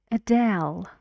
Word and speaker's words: Adele: well hello to you Adele Adele two syllables and the stress is on the second Adele Adele so One